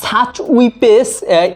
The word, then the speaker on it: Schweppes: তো ঠিক আছে হ্যালো ইউটিউব ফ্যামিলি আজকে সাচ উইপেস এর চারটা ফ্লেভার নিয়ে আসছি এটার উচ্চারণটা একটু বিদঘুর টাইপের তবে আমি একটু উচ্চারণ